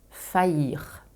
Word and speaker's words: faillir: à ignorer le verbe faillir ok encore un mot prononcé yeux comme famille on l'a vu précédemment